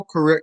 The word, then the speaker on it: Correa: If you could talk about him, Gordo Roberto Gordo Correa. Is that how you pronounce his last name? yeah. Roberto Gordo, Correa.